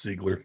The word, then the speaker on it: Ziegler: It's Ziegler, but you know. Thank you. It's French, okay? Hog Squad, baby. Woo! Oh, woo! All right. Why would it be Ziegler? That's just how it's pronounced.